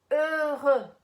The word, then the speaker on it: heureux: O jeito certo é assim, escuta aí, tá? Heureux. Mais uma vez. Heureux. E para treinar bem, heureux, certo?